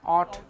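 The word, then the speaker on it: ought: फिर क्या लिखा, ऑट, गले से बोलना पड़ेगा, ऑट, आउट नहीं, ऑट।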